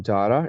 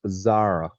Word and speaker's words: Zara: you listen to people, they will pronounce this word Jara, right? Jara normally, but it's not Jara, it's Zara, Zara. There is a Z sound, right?